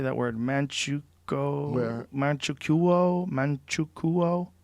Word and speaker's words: Manchukuo: Manchukuo? How do you say that? Manchukuo? Yeah. But Manchukuo? the U and the O together, how do you say that? Probably just sneeze it, basically. Chuku.